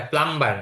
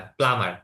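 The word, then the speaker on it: plumber: Butcher কসাই, প্লামার, এটা প্লাম্বার না, প্লামার, বি উচ্চারণ হবে না।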